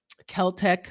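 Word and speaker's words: Celtx: Final Draft or it's clearly not from um Kel-Tech, which is another I think it's spelled CLTX, which is another cheaper version of script writing software that I've used before.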